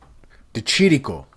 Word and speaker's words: Di Chirico: Di Chirico.